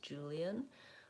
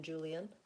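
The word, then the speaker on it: Julian: able to listen but Americans I would say often say Julien with three syllables Julien but we definitely condensed those syllables so here's the sounds in Julien zhu-li Julien and you can see that even though we spell that with an A we use vowel ah the sound and so you're probably noticing Jew is long Julien and Lynn are short and reduced and so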